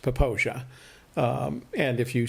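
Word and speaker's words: Popo Agie: we found out is popo aggie is not pronounced popo eggy it's pronounced poposia and if you say popo aggie uh people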